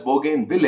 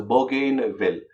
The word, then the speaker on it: Bougainville: cane will okay now this is also pronounced as Bougainville a but however you know there's a popular pronunciation as a bow gain bill so what are the